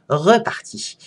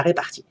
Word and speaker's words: repartie: la répartie alors que en orthographe traditionnel on écrit et on prononce avoir de la repartie et non pas donc avoir de la répartie alors la cause de